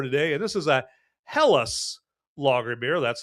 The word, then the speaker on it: Helles: But yes, let's look at the beer for today and this is a helles lager beer. That's how you pronounce that.